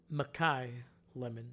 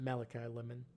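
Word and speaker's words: Makai Lemon: I completely uh mispronounced uh Lemon's first name, Mai Lemon, not Malachi Lemon, sorry.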